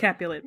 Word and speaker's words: Capulet: that they're also doing how do you say it cap Capulet Fest Capulet Capulet not catapult capul Capulet Fest um which I set